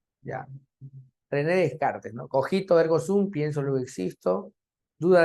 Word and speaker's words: Descartes: tenemos a René René qué descar de car se pronuncia de René de Cars ya René Descartes no cojito pienso existo